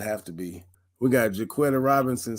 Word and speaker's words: Jaquetta: Is it Jaquetta or Jaquita? I don't know how to pronounce that. It's Jaquita. Jaquita?